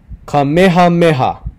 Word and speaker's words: Kamehameha: the first talii is kamehameha it's really important that you pronounce those itches because a lot of times people don't pronounce ages they say kamehameha meha different was